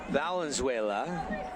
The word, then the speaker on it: Valenzuela: back everybody Devin Dixon Paul Valenzuela I said it right this time absolutely just think Fernando Fernando Valenzuela Paul Valenzuela and scissor